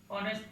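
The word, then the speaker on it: honest: আবার যদি এইচের উচ্চারণ হয়ের মতো না হয়, অয়ের মতো হয়, তখন এন বসে। যেমন an hour, N অনেস্ট ম্যান। এখানে এন বসছে এবং এইচের উচ্চারণ হয় নাই বিধায় সেখানে এন বসছে।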